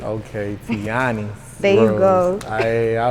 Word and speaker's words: Tianis: Say my name right. And I always tell people you gotta say it with a smile. Okay. Tianis. If you ain't smiling, you ain't saying it right. Okay, Tianis.